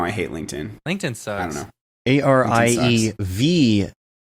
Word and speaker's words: Ariew: - Doh - dammit the two V's make it W yeah say you pronounce my name right yes and that's why it's Ari ev yes do you also